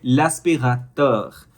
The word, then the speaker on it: l'aspirateur: I'll take an example, l'aspirateur. Okay, l'aspirateur. Now, it is EUR at the end, so it will be pronounced as Okay, so R is still getting, like R is still getting pronounced as H.